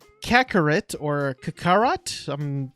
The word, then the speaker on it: Kakarot: They're pronouncing it Kakarot. Kakarot. Not Kakarot.